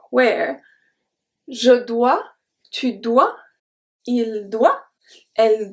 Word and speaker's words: dois: So the first 5 were je dois, tu dois, il doit, elle doit, on doit. They have the exact same pronunciation as doigt, finger.